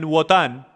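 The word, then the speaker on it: Wotan: libros enciclopedias e historia odín o algunos lo pronuncian votan era el Dios de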